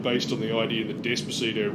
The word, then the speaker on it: Despacito: That's called a bunch of boring bullshit based on the idea that Despacito rhymes with bandito and sounds vaguely horny.